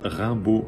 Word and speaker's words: Raimbault: Alors, elles peuvent me trouver sur ma page pro Facebook qui s'appelle Rimbaud Mentor. Tout attaché, Rimbaud s'écrit R-A-I-M-B-A-U-L-T.